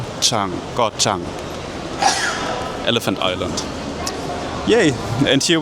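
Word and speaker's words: Ko Chang: as Huah Hin Paya and uh I see Kochang is also here. Actually it's not pronounced Kochang. It's pronounced G Chang. Gotchang Elephant Island.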